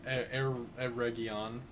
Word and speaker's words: Eregion: Focus so well okay so this is a um air region that's how you pronounce that 100 speaking of professionalism